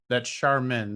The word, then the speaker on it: Charmin: pronounced like the toilet paper. But well, no, actually, that's Charmin.